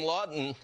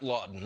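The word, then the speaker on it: Laughton: he is available now you can have the last name lawton and not spell it the way that brian does l a u g h t o n i'm talking about scott lawton the flyers have had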